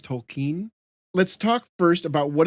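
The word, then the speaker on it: Tolkien: by um Jr tolken I've heard his name pronounced a bunch of different ways but from what I gather that sounds closer to what pronounced it was tolken let's talk first about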